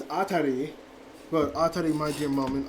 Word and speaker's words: Atri: I pronounced it now it's not RT because I thought it was a r TI was actually a r i so it's atar but a my dear